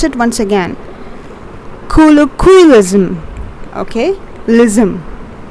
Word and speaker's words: colloquialism: Colloquialism. Okay, lism. You are putting the stress over here. Colloquialism. The last syllables.